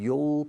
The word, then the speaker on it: you'll: So, I'll push and you'll pull. Do you understand? Así se pronuncia la contracción de you will. Rima con tirar.